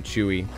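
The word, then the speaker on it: Chuy: it didn't captivate me it's spelled c-h-u-y like somebody's name chewie get down there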